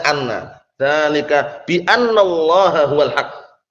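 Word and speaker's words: أنّ: Kita lihat sini, kapan dibaca anna? Al-mawadi' allati tuftah fiha inna. Tempat-tempat yang innanya itu di fathah. Hamzahnya di fathah. Berarti bacanya apa? Anna. Bukan inna, tapi anna.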